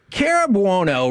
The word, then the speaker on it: Cara Buono: how close we are to getting the proper pronunciation. Cara Buono right here on 105.3 The Fan.